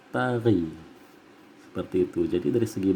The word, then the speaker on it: taghi: Kalau ditulisan dieja dalam bentuk tulisan, tari itu ditulisnya T-A-G-H-I, taghi tulisannya, tetapi dibacanya tari.